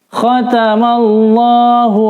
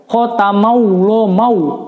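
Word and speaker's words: خَتَمَ اللَّهُ: Sebelum lafaz Allah berharokat fathah maka dibacanya tebal ya, lam tafkhim ya. Khatamallah, tapi juga tidak membaca bunyi huruf waw ya. Banyak di antara anak-anak ketika membaca khatamallahu mau. Nah, itu tidak betul.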